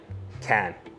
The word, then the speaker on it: Cannes: I'll actually be going to the Canes Festival for, is it called Canes? Can? Cane? Cane? Con. Cane. Cane. Like Can. It's just Can.